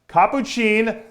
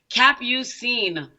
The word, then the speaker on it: Capucine: hi how are you did I do a good job on your name no no nice I know the real pronunciation cap you seen Oh cap you seem right have you seen